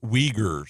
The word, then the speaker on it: Uyghurs: Texters are saying that's pronounced Uyghurs.